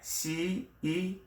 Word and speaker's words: cent: 100 is cent, like cent, right? C-E-N-T, pronounce cent in French.